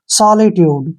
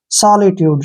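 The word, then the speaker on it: solitude: pronounce कैसे करना है एसो का उ चरण श करते हैं ऐसे एल आई को हम ली पढ़ेंगे टी यू को ऐसे टू पढ़ेंगे ठीक है और डी का उच्चारण ड करेंगे और ई का प्रोनाउंस हम नहीं करेंगे ऐसे सॉलिट्यूड क्या पढ़ेंगे इसको सॉलिट्यूड सॉलिट्यूड क्या होता है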